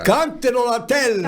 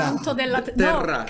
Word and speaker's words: Canto della Terra: Cantero la tella. Canto della Terra.